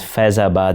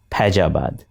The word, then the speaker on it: Faizabad: examples of a Chuni Amal from Delhi who mispronounces Faizabad as Pajabad.